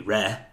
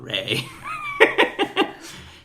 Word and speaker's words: re: Yes, or regarding, or reference, which would be re, and not ray. In reference to, so I have always said re. I argue that re is the correct way to say it.